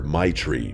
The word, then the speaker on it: Maitreyi: Her name was Maitreyi. I remember asking her to repeat it because I'd never heard it before. She laughed and told me everyone just calls her Maitri because that's basically how you pronounce it.